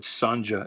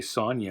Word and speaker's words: Sonja: doesn't sell real well i always pronounced it read sanja as a kid first time i heard somebody say sonya i was like what and actually i think the first time i heard it was sonja henning and it took